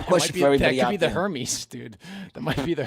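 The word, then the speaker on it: Hermès: you know my question that could be the Hermes dude that might be the her Hermes n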